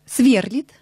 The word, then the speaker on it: сверлит: Сверлит. Правильно. А правильно, сверлит.